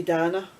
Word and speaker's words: Dana: Day by Day with Dana, but in the UK we would say Dana, because Gary's sister's called Dana, and then you've got Dana the singer, and it's spelled the same way, D-A-N-A, so it's Dana in America, Dana, yeah.